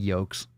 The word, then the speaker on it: yolk: We're not talking about egg yolks. Drop the L. The L is silent.